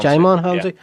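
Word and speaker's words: Djimon Hounsou: Dijon Hansu. Is that how you pronounce it? I know Jaimon Hansu. Jaimon Hansu. Yeah.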